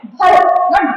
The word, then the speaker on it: Bharat: हो कि BHARAT है, तो दैट will be pronounced as भारत, नॉट भारत।